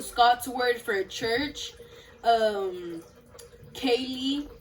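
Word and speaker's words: ceilidh: word for church um kaylee it's pronounced and uh it's a scots word for party and they have 421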